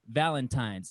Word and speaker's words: Valentine's: But I just can't use an M for N when you say Valentine.